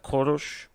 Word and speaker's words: Koresh: kind of familiar now koresh uh that's the biblical name of cyrus the great uh which would have i always heard it pronounces like korosh but would be you know the english-americanized version yeah and uh he